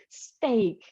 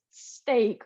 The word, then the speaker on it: steak: And in this case, Robert, we pronounce this steak, okay?